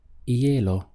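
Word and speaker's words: hielo: Spanish the word is a yellow notice that the H is always silent in Spanish it's not included in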